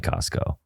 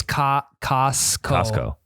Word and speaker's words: Costco: i was thinking about how come nobody pronounces the tea in costco yeah because it's not costco it's costco it's just like it's like cuzco from emperor's new groove yeah that is a